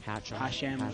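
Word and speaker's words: Hachem: Joseph Hatchin. Hashem. Hashem.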